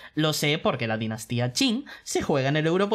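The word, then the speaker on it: Qin: japonés es I con k vale pero en chino q I se pronuncia chi por ejemplo la dinastía King q i n G en realidad es la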